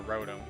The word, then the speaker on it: Rotom: For the longest time, I've always pronounced the Pokemon species Rotom. That's how I pronounced it as a kid. And then I heard a lot of people pronouncing it Rotom, so I just started pronouncing it that.